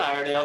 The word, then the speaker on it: Iredale: Julie Iredale, is that how you say her name? Yeah, Julia Iredale, she's a genius and so cool.